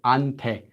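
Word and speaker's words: 한테: person Koreans would say hunt a hunt a which is just pronounced as unpay they don't really make the H that's the the hit this letter it's not that strong but cuz had I'm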